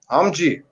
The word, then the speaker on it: Omji: You're going to have to pronounce it for us. You can say the second version, man, the Omji. Omji.